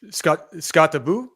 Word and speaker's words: Skattebo: It's Skattebo is how you say Skattebo in Norwegian.